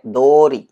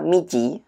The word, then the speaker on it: 道: ya sebagai kata benda cara baca mici pada kanji ini itu adalah kunyominya sedangkan onyominya adalah do Ya paling tidak kunyomi yang